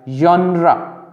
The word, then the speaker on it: genre: इससे words start नहीं होते, except in words borrowed from French like genre. अब genre में जो pronunciation है उसमें again double S की sound आ रही है और यहाँ पे fricative आ रहा है. Which some English speakers produce with a French pronunciation.